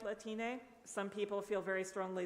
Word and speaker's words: Latine: another one is Latin pronounced like Latino or Latina but with an a